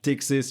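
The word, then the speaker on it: Ptyxis: It's also the same with the new terminal which is called tixis or tixis if you don't want to pronounce the P at the beginning.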